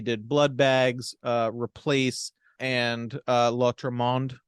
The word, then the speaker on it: L'Autre Monde: Blood Bags, Replace, and L'Autre Monde, which I now think I pronounced three different ways all three times. It is L'Autre Monde.